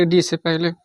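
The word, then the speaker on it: would: जैसे पहला देख लेते हैं डी से पहले यल साइलेंट होता है।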